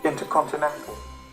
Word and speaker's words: InterContinental: in the list is int e-r-c-o-n-e-i-n-e-n the corrupt pronunciation is intercontinental the next in the list is c-o-r-n-p double